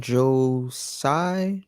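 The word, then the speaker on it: Joe Tsai: of the Neds um you know how to pronounce his name Joe Sai Joe yeah so when uh when Kyrie Irving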